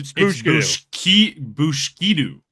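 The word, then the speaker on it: Booshkedo: Oh, so it's it's bushkidu, not Yeah, bushkidu.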